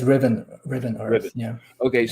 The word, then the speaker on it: Riven: yeah, it's Riven Riven.